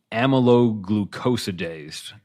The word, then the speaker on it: amyloglucosidase: It's an enzyme, I suppose, but it's pronounced amyloglucosidase, and you will have a hard time Googling that one, as I had a hard time spelling it.